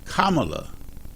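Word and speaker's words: Kamala: is a lady and I want to make sure that people get her name pronounced right and her name is kamla Harris and she is the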